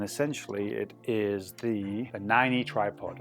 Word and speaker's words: Nineigh: it is the the 90 tripod I'm going to call it the 90 tripod that is how you spell it say it how you like I've used this in